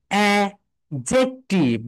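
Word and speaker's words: adjective: সবাই একটু লিখে রাখো, ডি এর পরে যদি জে আসে তাহলে প্রথম ডিটা সাইলেন্ট থেকে যায়। প্রথম ডিটা কি হয়ে থাকে যায় বলতো? সাইলেন্ট হয়ে যায়। সাইলেন্ট হয়ে গিয়ে এখানে হয়ে যাবে অ্যাজেক্টিভ, বলো অ্যাজেক্টিভ, অ্যাডজেক্টিভ, অ্যাডজেক্টিভ, অ্যাডজেক্টিভ, অ্যাডজেক্টিভ, অ্যাডজেক্টিভ না।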